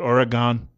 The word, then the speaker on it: Oregon: Oregon is actually the pronunciation, I'm told, by someone who grew up there. Just because it has an O-N at the end, it should be an U-N when you pronounce it. Not like United Nations, but an UN.